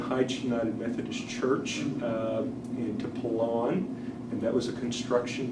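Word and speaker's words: Pilón: And would you pronounce that name again? Pelon, P-I-L-O-N.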